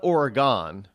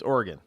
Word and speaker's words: Oregon: correctly over there either it's not Oregon by the way it's Oregon state of Oregon Oregon Oregon Oregon isn't that an instrument you playing not the name of a state well yeah